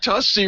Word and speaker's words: Tussey: Wow, you got Tussey right.